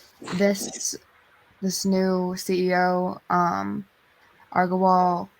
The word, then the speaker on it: Agrawal: this new ceo um argo wall that's how you say it um aggrowall agrawal that's it um they shared the